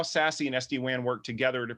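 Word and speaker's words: SASE: access Services Edge uh you'll hear it pronounced sassy quite a bit I would actually like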